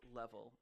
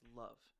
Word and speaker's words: LV: Actually, it's not pronounced level, it's pronounced love.